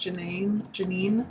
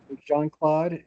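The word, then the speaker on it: Jeanne-Claude: Um, I didn't see the picture attached, but I did look up um is it is it pronounced Janine Janine? It it JohnClaude and Cristo.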